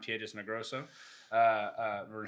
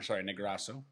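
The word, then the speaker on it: Piedras Negras: It passes right around Piedras Negroso. Negrasso. I pronounced that incorrectly. That was not right. Sure. America. I don't know. It's not Negrasso. It's Piedras Negros.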